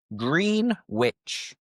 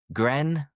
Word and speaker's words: Greenwich: But again, if you look at how it is spelled, you would think green witch. A green witch. But no, forget the W. And the green is used with a short vowel sound. So it is grren. Grenwich.